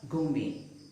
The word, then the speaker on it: gourmet: Now, words taken from French words which end with et, the T is not pronounced. For example, ballet. It is not ballet, but ballet. Buffet. It is not buffet, but it is pronounced as buffet. Gourmet. Not gourmet, but gourmet.